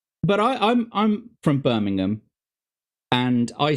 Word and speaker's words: Birmingham: No, I don't know anyone who says Birmingham, but it's Birmingham, which isn't even though it's spelled ham at the end, it's an um sound.